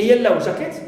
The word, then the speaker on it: yellow jacket: But if I refer to it as a noun phrase and I say a yellow jacket, it means any jacket which is yellow in color, here I stress second element, jacket.